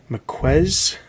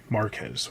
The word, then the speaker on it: Marquez: Joshua Williamson, and the art is by David McQuez. I'm probably pronouncing that wrong. He comes from Marvel, has been working on Marvel stuff for quite some time. Marquez, okay.